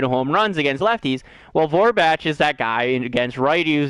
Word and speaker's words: Vogelbach: I think Vogelbach, not Vorbach. Oh, I've been saying his name wrong almost this entire time.